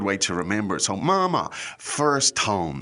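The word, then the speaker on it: 妈妈: Now, Mama, the tones there are first tone. Mama Yeah. is First and neutral. and neutral for the second.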